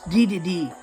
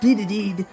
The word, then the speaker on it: Dedede: It's Dedede, not Dedede. I gotta get that out of my head. It's Dedede, not with an extra D.